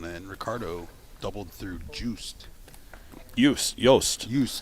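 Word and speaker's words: Joost: Ricardo doubled through ju yust yust Y is his name that's yikes I didn't spell j o o s t it's hard y is how you pronounce it about yeah any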